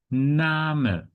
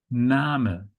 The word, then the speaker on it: Name: First detail is that despite it looks like English, you cannot pronounce it like English. Yeah. So the correct pronunciation is Name. Name. Yeah. So this is pronounced Name. Name.